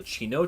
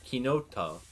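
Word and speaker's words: chinotto: it's there's a fruit called a Chino or kinoto however you want to pronounce it it's like a orange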